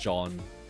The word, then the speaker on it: Jean: frch I guess but he's pronounced John like American I guess it's funny uh